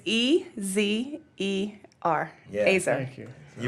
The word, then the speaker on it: Ezer: So how do you spell that? Yeah, it's Ezer.